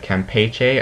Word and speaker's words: Campeche: You can see it brings it across the Yucatan, takes into the southern Bay of Campeche. I think I found out that's how you really pronounce that.